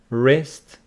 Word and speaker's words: wrist: so we know that W before R is not pronounced like WR writer wrist B after m is